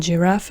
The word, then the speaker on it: Giraffe: a j in English, but in German it's Giraffe, g, Giraffe. Giraffe, guitar is Gitarre. Die Giraffe, die Gitarre. Die Giraffe, die Gitarre. Giraffe and Gitarre, g, g, g, g, a g sound.